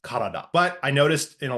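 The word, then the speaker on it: 体: body should be pronounced kada but I noticed in a lot of the exercises in Duolingo that it's mispronounced as typ which is how it's pronounced in kanji compounds not when on its own to be fair such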